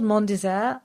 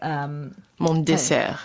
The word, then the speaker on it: Mon Dessert: So Mon is my in French, and dessert is dessert. Right. Mon Dessert. Yeah. So yeah. The French way of saying my dessert.